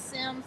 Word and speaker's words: Sims: Last name is Sims, like the video game, Sims.